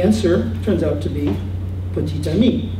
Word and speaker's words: petit ami: turns out to be petit ami. You pronounce the T.